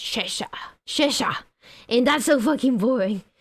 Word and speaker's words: Cheshire: I used to pronounce that Cheshire, and then my ex-British boss told me that it's not pronounced like that. It's pronounced Cheshire.